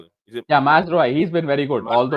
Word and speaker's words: Mazraoui: say Mascherano? Is that what you said? Yeah, I don't know. I don't know. It's Yeah, pronounce it's his name right. Mazraoui.